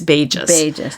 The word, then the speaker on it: Bages: So Janine, if you ever listen to this podcast, I apologize for mispronouncing your name. So it's Bages.